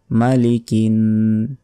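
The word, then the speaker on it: مَلِكِ: তারপর মালিকি নাস মালিকিন কিন এখানে গুন্না হবে মালিকিন নাস নাস তিন সেকেন্ড টেনে পড়তে হবে মালিকি না যিনি মানুষের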